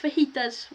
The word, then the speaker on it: fajita: if I had to eat fajitas with salsa for the rest of my life, you'd make me cry with joy. Love it. It's pronounced fajita.